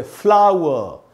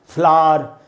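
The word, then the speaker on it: flower: हमने आ ऊ अ, ऐसे बोलेंगे फ्लावर, न कि फ्लावर या फ्लार, फ्लार, आर, ये सब कचरा, सब गलत उच्चारण है।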